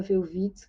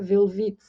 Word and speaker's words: Welwitsch: falam alemão o v o w né em alemão é pronunciado como V então por isso que eu imagino que seja a pronúncia certa velit ã e ele estava